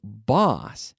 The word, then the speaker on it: boss: bus they Alto bouche so boss jefe boss ah ah imagine I'm at the dentists ah say ah Kyle ah boss boss boss whereas bus uh-uh-uh us bus MA now ask me if